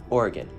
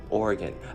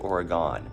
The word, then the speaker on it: Oregon: Oregon, I've heard people pronounce it Oregon. That's not okay.